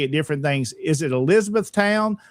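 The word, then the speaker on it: Elizabethtown: They call it E Town, but the full pronunciation is Elizabeth Town.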